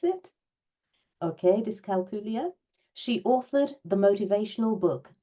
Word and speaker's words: dyscalculia: Is that how I pronounce it? Okay, dyscalculia.